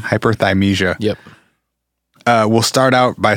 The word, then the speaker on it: hyperthymesia: Oftentimes people who have I always fucking pronounce it wrong. Hyperthymesia. Hyperthymesia.